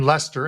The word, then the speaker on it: Leicester: Think of the name Leicester, and that's how it's pronounced.